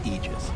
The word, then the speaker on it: Aegis: a point okay so the correct pronunciation technically speaking of ages is aegis this it's a literal